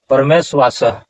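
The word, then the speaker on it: परमेष्वासः: काश्या जोड़ च, इस तरह से परमेश्वास, और इसका संधि विच्छेद क्या होगा? परम जोड़ ईश्वास, परम ईश्वास तब होता है परमेश्वास।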